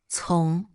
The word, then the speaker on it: 从: Its pronunciation is 从 it's made up of two characters, 人 but it doesn't simply mean two people.